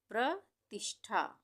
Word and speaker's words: प्रतिष्ठा: प्रतिष्ठा, प्रतिष्ठा, प्रतिष्ठा, यहाँ पे आधा मूर्धन्य श है, जो ये वाला श होता है ना, इसको हमने यहाँ पे आधा बनाया है।